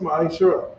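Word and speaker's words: מעשר: Means tenth in Hebrew and is pronounced ma'ashara. 10% of every penny of an increase the Lord gives you, you give to the treasury department or teacher.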